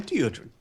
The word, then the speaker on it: Deodrin: Deodrin with a D. Dio. He always pronounces it like, or introduces himself like that. I'm Deodrin with a D.